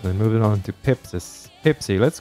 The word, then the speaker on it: Pepsis: to use that skill pepsi or pepsis if you want to pronounce properly you have to put